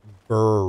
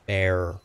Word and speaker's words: Ber: incorrect but that's okay people also call it Bur Rune it's bear Rune it's actually pronounced bear made a video